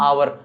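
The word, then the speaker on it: hour: एच तो होता है अपना साइलेंट। और इसको पढ़ते हैं हम आवर।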